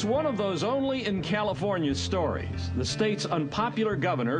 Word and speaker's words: California: have all been wrong it is pronounced California ladies and gentlemen the